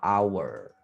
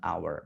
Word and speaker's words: hour: jam kan H tulisannya Tapi bacanya apa hour kayak gini kan Maka nanti bacanya bukan e h Bukan tapi an an hour jadi kayak gini an hour Mengapa menggunakan an karena dia bacanya hour bukan H jadi mempengaruhilah apa namanya